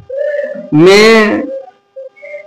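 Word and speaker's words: mechanic: যেমন মেকানিক, এখানে চানিক পড়া যাবে না, এখানে এইচটা সাইলেন্ট হবে, কেন?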